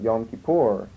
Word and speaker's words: Yom Kippur: But Yom Kippur, they pronounce it Yom Kippur, is the same word, the Day of Atonement.